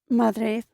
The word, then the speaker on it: Madrid: The capital of Spain, Madrid, in Spanish is simply pronounced as Madrid. Madrid.